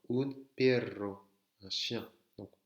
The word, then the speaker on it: perro: Sachez que un simple R et un double R ne se prononcent pas de la même manière. Pero, pero, ça veut dire mais je veux bien ça, mais je ne ferai pas ça. Pero, s'il y a deux R, perro, un perro, un chien.